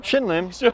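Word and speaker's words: Shin Lim: Shim Linn.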